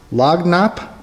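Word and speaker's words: lagniappe: had to look this word up apparently it's pronounced log Knapp and I guess it just means like a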